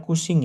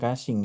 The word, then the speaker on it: Cushing: cushing syndrome ya glucagonoma bacanya cushing ya bukan cing ya know berikutnya veokromositoma itu juga bisa menyebabkan jadi diabetes Ya, karena obat alfa interferon, beta atri agonis, diakosit, glukokortikoid.